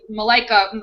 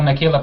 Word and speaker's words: Michaela: uh with uh with malaika is it malaika malika i also want to say her name wrong um it's uh michaela pratt michaela thank you michaela pratt so she